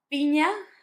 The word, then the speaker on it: piña: Piña, pineapple, had the ñ sound.